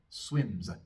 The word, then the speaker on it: swims: Como con el verbo swim. Termina en M, un sonido sonoro, así que la S también es sonora. Vamos a pronunciar una pequeña A después, muy cortita. Swims, swims.